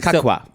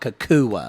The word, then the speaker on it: Cacua: Kakwa. Kakwa. You know, it is spelled like Cacua. Yes. So Kakwa though.